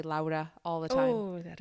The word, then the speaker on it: Laura: Laura. Not Lara. Laura. Yeah. I had an ex-coworker who I mistakenly pronounced her name Laura, and she's like, it's not Lara, it's Laura.